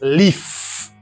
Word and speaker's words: leaf: By the way, this is leaf. Leaf. Sound. Ça a un son v et puis ça a un son f.